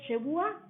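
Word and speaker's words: שבועה: El juramento en hebreo se dice shebua y se escribe con la letra shin, beit y ayin.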